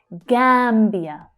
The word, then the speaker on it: Gambia: The Gambia, the Gambia. So we have the unstressed the, Gambia, Gambia. So that first syllable there is the strongest one.